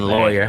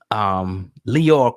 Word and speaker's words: Lyor: I'll say it right, Lyor, because people was getting me in the comments saying Lawyer. Whatever. I heard some people say Lawyer, whatever. We know his name. Lyor. Lyor Cohen, went on the